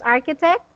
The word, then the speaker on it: architect: I think it's just the intonation that you were confused about, where to put your racing voice. So anyway, just architect Architect. at the Architect. first syllable.